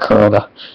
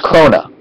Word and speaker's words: Crona: seen the series um it's not Corona something like that Crona Crona it's Crona who's like this weapon